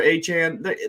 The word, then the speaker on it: Achane: attention of Mostert and Achane. I guess, is that how you pronounce it? Yeah, they're Achane.